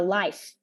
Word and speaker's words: life: may mentioned and also some other words like uh life you always pronounce it like light light right without the f sound at the end and uh register register